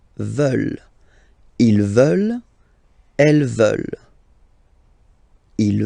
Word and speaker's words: veulent: And the last one, here, EU, and then ENT, classic ending, but then you don't pronounce it, so you get veulent. Veulent.